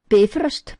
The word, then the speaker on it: Bifröst: Bifröst, pronounced Bifröst, accent on the first syllable.